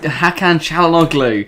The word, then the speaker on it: Çalhanoğlu: Oh, we've got a goal in the big Calendly. game tonight. Who is it? Sorry. Calendly. Oh, that's how you pronounce it. Calendly. No. Hakan Çalhanoğlu.